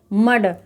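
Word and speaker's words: mud: तो एम यू डी को हम क्या पढ़ेंगे, मड।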